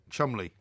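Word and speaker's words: Cholmondeley: with that s name I I uh Mr Chumley waren do you not remember him from the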